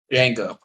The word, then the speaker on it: Django: and stuff uh Nate how do you say the name of this movie Jango okay after after the